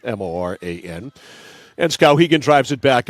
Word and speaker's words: Morin: So off the draw, it's Callie Moran, Callie Morin is how she pronounces it, Moran.